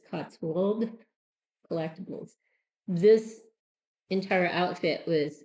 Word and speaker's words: Cotswold: I want to say Cotsworld, but there's no R in it. So it's Cotswold Collectibles.